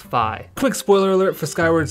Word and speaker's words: Fi: think of phi yeah i call her phi you don't say feet you say fight so i i would argue that it's pronounced phi quick spoiler alert for